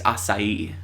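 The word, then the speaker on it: açaí: That's what the word acai looks like on the Starbucks menu. And that's how you're supposed to say it, is acai.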